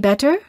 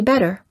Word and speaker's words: better: in the following cases between two vowels we don't say better we say better before an l we